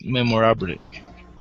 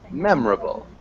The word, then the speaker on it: memorable: So we don't ever really pronounce the O. So we wouldn't say mem or able. It's just memorable.